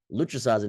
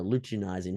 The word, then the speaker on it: luteinizing: females sperm and males lutricizing hormone or luteinizing hormone I was throwing extra syllables in there for some reason is about again um